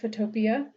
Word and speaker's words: Photopea: Apparently that is the correct pronunciation. Some people want to call it Photopea.